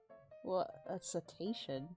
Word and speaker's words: cetacean: is a mammal Oh s attention I think that's how you pronounce it the family that all